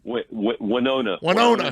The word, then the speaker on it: Winona: Winona, New Jersey. Like Winona Ryder, but not spelled the same way.